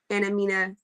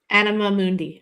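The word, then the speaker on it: anima mundi: to the um how do you say it anina animamundi yeah there we go um the world Soul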